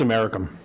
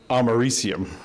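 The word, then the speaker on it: americium: say oh yeah I know that one it's americam I was then very quickly corrected by the room over my pronunciation and found out that is pronounced amarium so the point of my story is be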